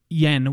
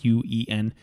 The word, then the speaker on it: Yuen: Robert Yen. Well, he wasn't technically on our podcast, but it was. And I'm sorry if I'm saying it wrong, Robert. It's Yuen.